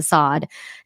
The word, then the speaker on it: Sade: Sadism come from a French nobleman, Marquis de Sade, Sade. His last name is Sade. It's spelled as Sade, but it's pronounced in French as Marquis de Sade.